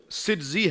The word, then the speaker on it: سجزی: تک پہنچ جائے اور وہ ظاہر سنجری بولنے سے بھی پہنچ جائے گا. لیکن اصل تلفظ جو ہے وہ سجزی ہے کہ آپ سجستان کے رہنے والے تھے.